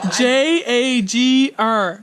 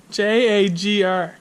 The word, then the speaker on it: Jagr: Jagr. That is not Jogger. how I pronounced it.